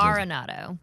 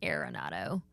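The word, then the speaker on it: Arenado: How do you Aronado, not Areronado?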